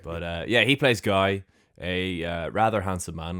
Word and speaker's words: Guy: as we would say guy in the film they pronounce it Gee.